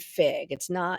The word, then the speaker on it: Figue: But so a brand that I had always loved, I had no business connection to, but this brand Fig, it's FIGUE because there's another Fig that's spelled differently.